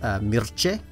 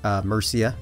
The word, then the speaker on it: Mierce: wrapped around these pronunciations he says it should have been pronounced milchie so I am going to attempt to pronounce that as such I may occasionally call it Murcia because that is what